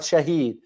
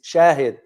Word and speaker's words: shahid: It's not shahid is shahid because when I read